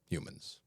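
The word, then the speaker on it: Humon: with each state of what's now called the human that's spelled h u m o n color Hue so that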